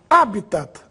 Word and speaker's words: habitat: Mas em todo caso a pronúncia oficial é habitat, palavra proparoxítona.